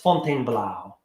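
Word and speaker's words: Fontainebleau: U in Fountain um fontain Blau for some reason I the way I thought to how to remember to spell it is that it's pronounced Fon blow um so let's see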